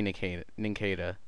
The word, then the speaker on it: Nincada: Actually, no, it should be Nincada, because it's a pun of cicada, which is like a cricket thingy. So I guess it is Nincada.